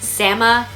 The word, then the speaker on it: Samoyed: Well, in Siberia, their name is pronounced Samoyed. Now, if you're ever in doubt as to how to pronounce their name, if you can't remember, okay, which way am I supposed to pronounce it? Well, any of those ways is perfectly acceptable.